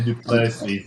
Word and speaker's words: Du Plessis: Hank, if I find out tomorrow that guy's name is something like Dapways, they they're saying duples, but that's not the way it's spelled.